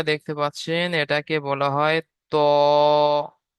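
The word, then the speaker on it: ط: দেখেন, এই যে প্রথম অক্ষরটা দেখতে পাচ্ছেন, এটাকে বলা হয় ত। ত উচ্চারণ করার সময় মুখ গোল হয়ে যাবে। কেন? স্টার চিহ্ন রয়েছে এই জন্য, আর এক লেখা রয়েছে এই জন্য এটাকে একালি পরিমাণ টান দিয়ে পড়তে হবে।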